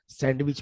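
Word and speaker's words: sandwich: सैंडविच में D silent होता है, हम यहाँ सैंडविच बोलते हैं सारे लोग, वो इंग्लिश में सैंडविच होता है।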